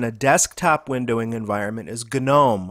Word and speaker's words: GNOME: desktop windowing environment is gnome also called gnome another the open-source competitor